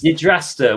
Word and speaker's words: Yggdrasta: And we're going to have Yggdrasta. What do you think that looks like? And I had to pronounce it as my pasta to understand how to pronounce it. Wait, could you say it again? Yggdrasta.